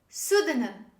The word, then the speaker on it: pseudonym: raspberry say with me raspberry dancer raspberry the pronunciation of this word is raspberry raspberry the last example this word this is pseudonym pseudonym say with me pseudonym thank you very